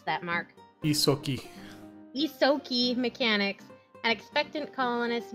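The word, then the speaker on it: Ysoki: How do you pronounce that, Mark? Isoki.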